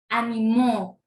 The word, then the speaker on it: animó: Dice, ánimo. Ánimo. Animó. ¿Pueden escuchar la diferencia? La diferencia está en la tilde.